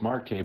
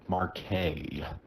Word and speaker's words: Marquez: flooding because well that is pronounced Marque by the way uh forget that Z exists so Marque what he said marqu